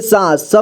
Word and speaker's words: सांस: बोलते हैं अंग्रेजी में यहां देखिए सा स में आ की मात्रा सा इसके बाद यहां अं की मात्रा लगा है सा पढ़ेंगे इसके बाद स ठीक है सांस तो यहां देखिए अं